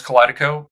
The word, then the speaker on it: Kaleidico: uh group and the Sorry, how do I pronounce that exactly? Yeah, it's uh so I have two agencies. One's Collidico, mainly B TOC, and then Bill Rice Strategy Group is focused on B2B.